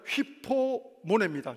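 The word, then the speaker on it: ὑπομονή: 근데 여러분 그 시험과 시련은 인내를 인내를 만들어 낸다고 하는데 인내라고 하는 뜻은 헬라어로 발음하면 휘포모네입니다. 휘포는 뭐뭐 아래에 모네는 모래는 머물다.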